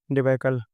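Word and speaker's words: debacle: पहला है डेबकल।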